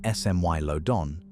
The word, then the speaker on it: Smilodon: Smiledon, pronounced smmy y lodon, didn't hunt like a lion.